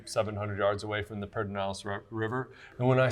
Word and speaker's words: Pedernales: five well maybe 700 yards away from the pedernales river and when i say pedernales river i mean pertinent house river some of the non-local people say paternalis that's not how you really say it if